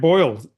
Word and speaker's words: Boyle: Trent Boyle rhymes with oil.